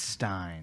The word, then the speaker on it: Stein: I think it's Stein too. I think one day they said it right, and I associate it with Ben Stein's money, that show they used to have. And I was like, okay, it's a Stein.